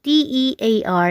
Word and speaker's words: tear: sentence number two naman ang pagkakabigkas ng t e a r is tear ito guys ay isang